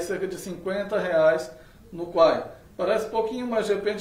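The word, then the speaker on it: Kwai: Muita gente chama até de Kawaii aqui no Brasil, a pronúncia correta é o Quai.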